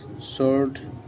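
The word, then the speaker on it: sword: guess silence ডাব এস ডব ও আর ডি সোরড ডাব আর ও এন G wrong A এন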